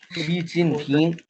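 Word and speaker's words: 习近平: शी जिनपिंग, शी जिनपिंग।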